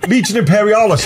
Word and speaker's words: Legion Imperialis: And also as well, nice to see that Imperial Legionalis. Is that right? I never pronounced that. Legiononis. Legion Imperialis. I'm now looked over your shoulder. Yeah, it's right there.